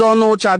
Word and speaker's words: Onitsha: They call them Onocha. The right pronunciation is Onocha, the one who lives apart, the one who is staying apart from his lineage and kinsmen.